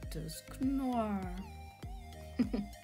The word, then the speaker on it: Dusknoir: Ooh, a Holo Dusknoir. I always pronounce his name like it's a noir from French. It does mean black, noir. So for me it's a dusk noir.